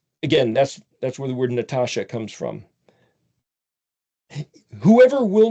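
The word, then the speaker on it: נתש: Nun tav shin means nut, it's pronounced Natash, like Rocky and Bullwinkle had Boris and Natasha, the Russian spies.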